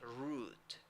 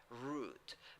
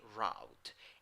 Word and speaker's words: route: In the pronunciation, you only have a long U, so you say route, route. But you can also say route.